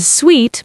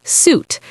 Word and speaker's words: suite: Mistake number 1 is mispronouncing suite as suit, saying I'm staying in a suit at the hotel instead of I'm staying in a suite. Suite is pronounced sweet, not suit.